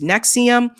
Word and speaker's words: NXIVM: Many knew that Edgar Brothman's daughters were involved in a secretive organization called NXIVM, pronounced Nexium, a group that he himself had openly referred to as a cult.